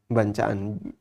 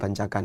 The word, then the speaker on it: bancaan: Bancaan. Bacanya bancaan bukan bancakan ya.